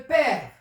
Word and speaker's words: père: Le père, il est ouvert.